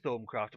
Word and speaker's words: Thaumcraft: I like to pronounce it Thaumcraft. My reasoning for this? This little gimmick here, which you get pretty early on, the thermometer. Now that should be a guide because it's definitely an in-joke.